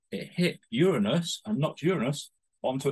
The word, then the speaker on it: Uranus: the planet Uranus, and that is how you pronounce it, Uranus. Uranus is on its side and it spins.